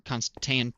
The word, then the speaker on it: Constantan: Constan iron pickaxe or Constantan pickaxe. Constantan. Yes, I pronounced that right.